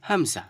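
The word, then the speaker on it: ء: direct একদম কন্ঠনালি একদম শুরু থেকে আমাদেরকে এটা বের করতে হবে হামজা নরমাল বুঝতে পেরেছেন তারপরে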